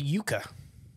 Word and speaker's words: Yuka: for you okay uh the Yuka like the root yeah kind of spelled like that it's sometimes called the